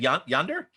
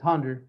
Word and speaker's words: Honda: Okay, well, you said Yonder? Honda, it's spelled Honda. like Yander, but it's Honda.